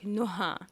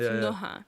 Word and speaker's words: Nouha: Well, like literally, like my name is supposed to be said like Nouha. Nouha. Yeah, like in Lebanese, like in Arabic, it's Nouha. Nouha. But like sometimes it's a bit hard for people to pronounce it that way, so I'm like Nouha. Like just pronounce the H basically.